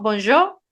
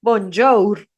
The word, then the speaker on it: bonjour: las palabras no se pronuncia Entonces por ejemplo bonjo se escribe bonjour pero se dice bonjo o sea al final